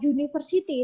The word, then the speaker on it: university: Tetapi kalau kata university, tulisannya U, tapi bunyinya kan nggak U. Dia bunyinya kan U kan, university.